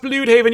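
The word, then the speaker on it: Blüdhaven: Technically, it's pronounced Bloodhaven.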